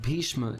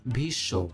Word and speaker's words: Bhishma: Also take the example of Bhishma in Hindi. This is pronounced as Bhisho.